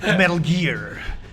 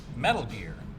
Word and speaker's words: Metal Gear: The first time I had to say Metal Gear in the game, I said Metal Gear, and they said no. You don't say it like that. And I'm like, well, how else do you say it? And they said, well, how would you say Richard Gere? And I was like, Richard Gere.